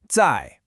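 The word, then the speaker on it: 在: First, we have zai. That's a 4th tone.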